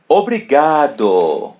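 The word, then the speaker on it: obrigado: There's letter I. We pronounce it as e. Obri. And the letter A. We pronounce it as a obri. As you see the letter R in the middle, we pronounce it as R in English.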